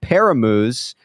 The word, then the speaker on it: Paramus: The stores will be in Paramus, Cherry Hill, Bridgewater, and in Iceland.